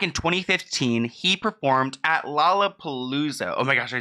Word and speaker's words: Lollapalooza: Back in 2015, he performed at Lollapalooza.